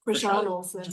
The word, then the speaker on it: Christiane: It's Christiane Olsen. Very close. Krishan Olsen.